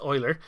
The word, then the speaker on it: Euler: to a quaternion das Euler and what oiler does it looks like it might be pronounced Euler but it's actually pronounced Euler and what this does